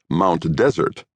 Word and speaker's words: Mount Desert: As decreed by the natives, one spells it Mount Desert, but the pronunciation is Mount Desert.